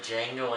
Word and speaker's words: Django: My number 4 is the Django Unchained. Yes, I know the D is silent.